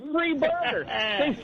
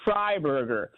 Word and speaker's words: Freiburger: My last name is Freiburger, but most people pronounce my name because they say it wrong. They say free burger. When they meet me, they say free burger, and I tell them, no, it's Freiburger.